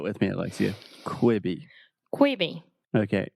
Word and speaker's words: Quibi: you quibby quibby okay so this is difficult because in the first syllable we have the e sound so imagine the difference between you know the classic examples of Beach and or sheet and so we have quick okay so just say